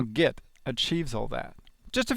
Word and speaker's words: Git: we're talking 15 years already as you can hear from the beginning of this course git is pronounced get with a heart J which is a British